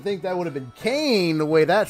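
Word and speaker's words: Koehn: K-O-E-H-N, and it was pronounced Kane.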